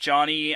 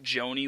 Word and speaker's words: Johnny: name in johnny parker it is pronounced johnny i think i pronounced it joanie one time but it is johnny